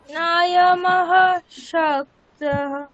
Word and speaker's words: नायमः शक्तः: আচ্ছা, না ইয়ামাশক্তঃ, বিসর্গের পরে তালব্য স আছে, তাহলে না ইয়ামাশক্তঃ। আচ্ছা, আমি একবার 4 নম্বর, नायमशक्तः হ্যাঁ, বিসর্গটা তালব্য সর মতো উচ্চারণ হবে সন্ধি হয়ে, তাহলে না ইয়ামাশক্তঃ এরকম।